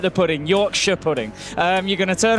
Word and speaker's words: Yorkshire: Just like Shire, like Lancashire. I'm from Lancashire. Right. Lancashire. The North Americans tend to pronounce the Shire. That's more of a sh. Sure. So Lancashire. Yorkshire.